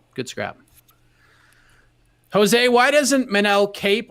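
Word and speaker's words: Manel Kape: scrap jose why doesn't manell cape or i guess as the ufc pronounced it menel cap why is he is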